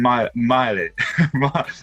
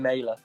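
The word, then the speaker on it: Mæhle: And then I've gone with Joachim Miley. I don't know how to pronounce it. He's got the A and the E. Pardon? Joachim Mailer. Mailer. There we go.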